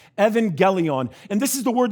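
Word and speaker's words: εὐαγγέλιον: go forward okay the first greek word is pronounced evangelion evangelion and this is the word that's sort of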